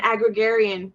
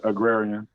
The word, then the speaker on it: agrarian: the Hebrews the Israelites they were an aggregarian is that correct an aggregorian culture uh agrarian agrarian there you go I said you did